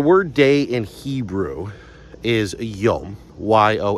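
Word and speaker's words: יוֹם: I always hear it pronounced yam, but when I looked it up, I believe it's a long o sound.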